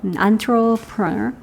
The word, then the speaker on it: entrepreneur: 뭐 프랑스어에서 어원이 나와가지고 발음이 조금 영어랑 달라요. entrepreneur.